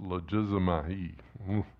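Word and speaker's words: λογίζομαι: There's a Greek word here, logizomai, it's how it's pronounced, logizomai.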